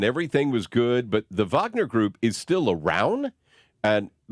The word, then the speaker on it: Wagner: uh foreign languages because I thought it was a Wagner group evidently it's the Vagner group but if you spell it out that's that's what it looks like I'm like and it